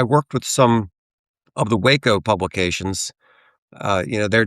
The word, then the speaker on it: Waco: I was thinking Waco, Texas. because I think I've been pronouncing I think I've only read it and I've been pronouncing it Wo in my in my head all these years but I but I'm familiar with that.